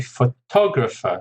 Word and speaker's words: photographer: Actually, photograph's an interesting word because the person who takes a photograph is a photographer. So actually the stress moves to the second syllable. Photographer, photograph.